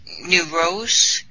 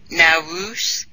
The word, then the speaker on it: Nowruz: in early April, it's the New Rose, New Azu, Nowruz, depending on how you say it, festival.